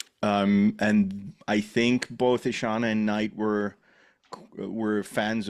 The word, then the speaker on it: Ishana: Night Shaman's daughter I think her name is pronounced isan isana isana yeah right correct yeah yeah um so I